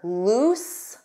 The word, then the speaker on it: loose: So remember, loose, oose.